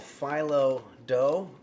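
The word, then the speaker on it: phyllo: We're going to start working with something called Phoe and it's spelled P H Y L L O.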